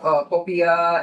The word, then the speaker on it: popiah: So, Michael, we just tried your Popiah. It was, am I pronouncing it correctly?